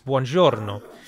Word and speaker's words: buongiorno: But the closest you can get is buongiorno, which is far more Italian sounding.